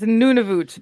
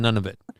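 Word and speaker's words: Nunavut: It's Nunivoot.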